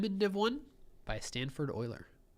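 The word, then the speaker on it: Euler: div one by Stanford Oiler I think it's pronounced uler isn't it I'm just kidding um yeah so Berkeley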